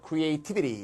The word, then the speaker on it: creativity: ITY가 나왔으니까 액센트 요게 되면서 creativity 이렇게 되겠죠.